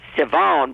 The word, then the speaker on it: Siobhan: It's Siobhan, but it's spelled Siobhan.